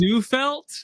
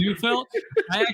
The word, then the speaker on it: Zufelt: Pronounce his last name. It is Zufelt. It is Zufelt.